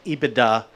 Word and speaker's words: EBITDA: important one is called is pronounced I bday typically in the US and that means earnings